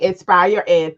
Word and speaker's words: InspireED: the founder of inspired Ed I hope I'm pronouncing it right LCA is Inspire Ed okay Inspire Ed thank you for correcting me so we're gonna